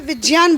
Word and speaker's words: विज्ञान: इसमें आनी चाहिए अच्छा तो इसलिए विज्ञान बोलते हैं क्योंकि जिन वर्णों के संयुक्त से यह बना है वो उच्चारण जैन विज्ञान विज्ञान ऐसा उच्चारण होना चाहिए विज्ञान और विज्ञान ये गलत है ये गलत है और